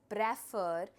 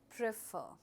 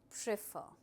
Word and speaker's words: prefer: And remember the pronunciation of the words, my dear students, do not pronounce it as prefer. It's called prefer.